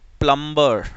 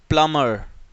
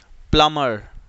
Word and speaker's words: plumber: Next, ये word जो mostly लोग गलत प्रोनाउंस करते हैं, Plumber, है ना, you call it प्लम्बर, नो, इट्स प्लमर, प्लमर, B silent होता है, ठीक है।